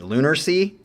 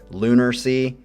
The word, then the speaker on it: Lunarsea: I thought it was lunar. Well, you have an A there. Lunar, like lunar, moon.